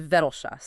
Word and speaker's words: Vettelschoß: And it's situated in Vetelshas. So, that is Vetelshas.